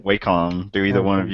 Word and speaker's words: Wacom: So do you neither one of you, I know Agent 70 mentioned how you pronounce it, Wacom tablet? Wacom, right? Wacom.